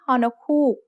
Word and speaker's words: ฮอนกฮูก: This letter is only used as an initial sound in a syllable, never as a final sound. Maybe you can remember ฮอนกฮูก because it looks a little like the shape of an owl's eye.